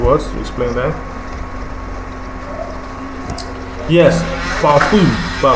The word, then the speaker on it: parfum: Yes, parfum. The nasal sound is on the last syllable, while the vowel on the fourth syllable is pronounced with a short and sharp intonation.